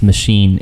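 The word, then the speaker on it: Maschine: um on my chime drum and that's that's machine m a s c h i n e ooh fancy that's how you spell it it it's a pretty fancy little thing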